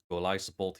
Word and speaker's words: Golisopod: It is Gudra, Golisopod, yes, that is the official pronunciation, and Lantern.